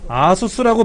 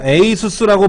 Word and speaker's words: ASUS: 그 다음에 아수스라고 발음하는 기도 하고 에이수스라고 발음하기도 그러더라고요. 에이수스, ASUS예요. ASUS인데 아수스라고 발음도 하고 콩그리시로 에이수스라고 발음하기도 하는데 이렇게 써요. 이렇게. 저는 아수스라고 그냥 발음하는데 누구는 또 에이수스라고도 하더라고. 근데 본사에는 또 에이수스라고 써 있으라고. 그 본사 말이 맞겠죠?